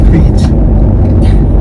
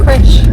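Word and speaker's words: crèche: It's in England they're called a creche. That's why we call them a creech. Yeah, I think it's like a French word and it's spelled C-R-E-C-H.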